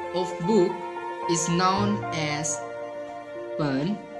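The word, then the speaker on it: 本: The Meyer word of book is known as pen. This is third tone. Pronunciation again. Pen.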